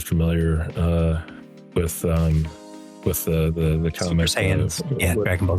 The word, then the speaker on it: Saiyan: Super Saiyans, Dragon Ball Z.